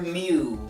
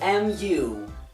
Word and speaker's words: mu: This is represented by the Greek letter mu. It's spelled M-U, and not like the Pokemon. So, mu.